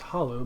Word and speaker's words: holler: heard o holler okay holler is the hollow between two mountains and it's probably properly pronounced hollow but we say holler and I grew up